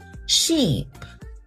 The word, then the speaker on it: sheep: Sheep. Ship. These words sound different, but a lot of students they pronounce them the same way. The word sheep, it has a long e sound.